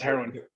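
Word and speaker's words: Heroine: I have to ask first, so is it pronounced heroin or is it? Yeah, it's heroin.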